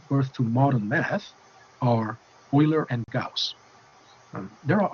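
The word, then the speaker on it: Euler: log using e or Oiler number as the base that e is called Oilers number now some people ounc it as uler but that's not right because oer was a um uh German mathematician in the uh around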